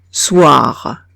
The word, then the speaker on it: soir: Si veo una O y una I, la leo OA. Ejemplo, soir. Soir. ¿D'accord? Alors, OI nos da el sonido OA.